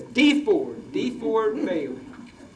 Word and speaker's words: DeFord Bailey: I used to think it was pronounced DeFord until I heard some Southerners pronounce it. And he says DeFord Bailey.